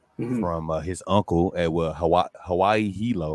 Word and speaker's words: Hilo: his uncle at Hawaii Hilo, right? Or Hilo. Is it Hilo or Hilo? Hilo. I said it right the first time.